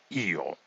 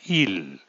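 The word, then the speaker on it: eel: Io. Se deletrea E-E-L y se pronuncia io. No il, como muchos pudieran creer, io, donde la pronunciación de la letra L es tan suave que casi no se percibe.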